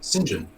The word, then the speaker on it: Saint John: name is it's so it's called saint john but it's pronounced sinjin that's interesting i uh